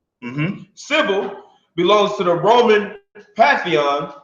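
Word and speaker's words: Cybele: sabeti writes with us this is pronounced civil mm-hmm Sybil belongs to the Roman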